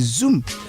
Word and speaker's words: Xoom: Receiving money from abroad can be cheap and fast with Zoom. Zoom is spelled with X, X-O-O-M.